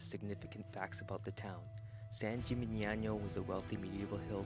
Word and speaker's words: San Gimignano: We then headed to the town of San Gimignano, and we learned its significance in Tuscany. We are in San Gimignano. Is that how you say it? How do you say it again? Is it San Gimignano.